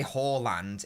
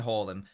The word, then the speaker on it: Haaland: Thirdly, I'm not saying Haaland, I'm saying Haaland. Fourthly, the reason why I'm saying Haaland is because it is a correct Norwegian pronunciation.